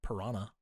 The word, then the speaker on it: Piranha: Did I say Piranha? I meant Piran because that's how they pronounce it in the movie.